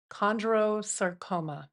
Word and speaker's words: chondrosarcoma: with a rare type of bone cancer called chondrosarcoma.